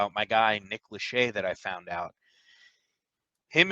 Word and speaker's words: Lachey: How do you pronounce it? Vanessa Lachey or Lashy? Lachey, Oh, Lachey.